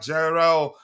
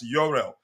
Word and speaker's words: Jorrel: Um so the first item we have here, let's talk about Gerel Jorel. I think I've heard when I was watching one of his highlights that the commentator did pronounce it as Yurel Yurel Hato.